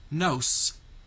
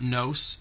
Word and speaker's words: nose: And the letter S in the word nose is representing the sound Z. Because if it were making the sound that S makes in sun, the word would be pronounced nose. And it's not nose, it's nose.